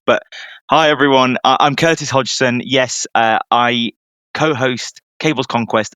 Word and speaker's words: Hodgson: English people struggle to pronounce the surname. It's the D and the G next to each other, which really throws everyone off. But hi, everyone. I'm Curtis Hodgson.